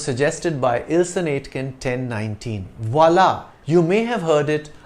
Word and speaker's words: voilà: When the accent grave is placed over an A or a U in French, it has no impact on the pronunciation of the letter.